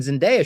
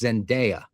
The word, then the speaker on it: Zendaya: Like, Robert Pattinson and Zendaya should be in every single movie ever. And I found out, by the way, it is Zendaya. You gotta say Zendaya, not Zendaya. So I was wrong on